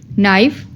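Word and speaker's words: knife: है एग्जांपल्स है इसकी नाइफ अब नाइफ में के बोला नहीं जा रहा बट स्पेलिंग में हमें के एन आई एफ ई नाइफ पूरा लिखना है बट बोलने में हम लोग के नहीं बोलेंगे जस्ट नाइफ ही बोलेंगे ठीक है उसके बाद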